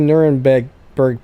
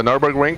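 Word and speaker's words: Nürburgring: exodus um i did not get the lfa nuremberg berg package or i know i said that wrong i always say it right did you get that one max the nurburgring package yeah only on my main account i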